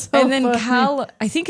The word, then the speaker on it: Callum: She's Yeah, that's And then Callum, I think it's pronounced Callum. I think it's Callum. Yeah, it's definitely not Caleum. I think it is Callum.